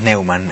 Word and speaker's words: Neuman: Así se dice en tu familia, ¿no? Sí, decimos Neuman, en realidad es un apellido falso.